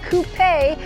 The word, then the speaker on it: coupé: I do know that there are two different versions, but I believe that a lot of you have been saying that the Coupé is the right way to pronounce it.